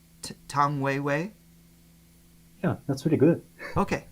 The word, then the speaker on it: 谭维维: Tan Weiwei. Tang Weiwei?